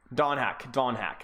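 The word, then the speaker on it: Donghak: So no dong. Don Hack.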